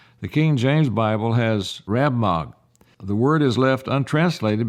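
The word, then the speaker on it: Rab-mag: the king james bible has rab mag the word is left untranslated because the translators did not understand its meaning rabbagh i think is the way it's pronounced r-a-b-m-a-g has been correctly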